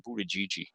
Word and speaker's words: Buttigieg: of the rallies, and I think he said Buttigieg was the right way to say it.